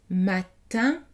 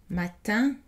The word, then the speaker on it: matin: et écoutez les exemples matin le hand n'est pas prononcé matin un han dans ton